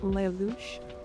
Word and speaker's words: Lelouch: The labs is pronounced Lelouch because French or something.